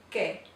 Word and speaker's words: que: So the letter U here in this word is silent because it follows the Q. This word is que.